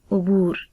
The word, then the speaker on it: عبور: حرف ہمارے پاس ہے عبور۔ عین کے اوپر پیش، بے کے اوپر پیش، واو کے اوپر جزم اور رے کے اوپر بھی جزم آئے گی، اور اس کا تلفظ